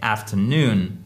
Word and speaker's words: afternoon: C'est pas afternoon, c'est afternoon.